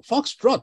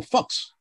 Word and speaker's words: Foxtrot: Hay que pronunciarlo como Foxtrot, no como Fox.